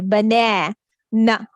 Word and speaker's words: banana: is the long A, bana. Na. Na. Again, a sound. Banana. It's a three-syllable word. It has a complete vowel sound. This is the stressed syllable. Banana.